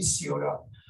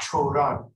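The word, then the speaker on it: Cioran: شخصیه به نام سیوران، امیل سیوران که به فرانسه اینجوری ترجمه میشه، اخیراً تو به فارسی کشف کردن این رو، چند چیز ازش ترجمه شده و با تلفظ رومانیاییش چوران، اگر جایی دیدید چوران به این صورت.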